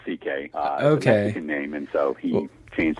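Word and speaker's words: Székely: it's spelled differently it's then ck but it's pronounced ck okay and so he changed his name to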